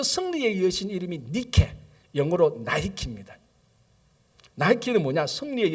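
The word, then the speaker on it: Νίκη: 어떻게 발음하죠? 원래 니케. 원래 니케인데 영어로 발음하면 어떻게죠? 이게 나이키입니다.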